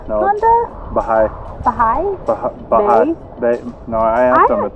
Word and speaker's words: Bahia: say Bahia Honda? Baha'i. Baha'i? Baha'i. No, I asked them. It's Baha'i. Baha'i. Okay. It's actually pronounced way differently even in Spanish, but...